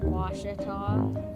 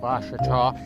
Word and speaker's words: Ouachita: How would you pronounce it? Ouachita. Ouachita.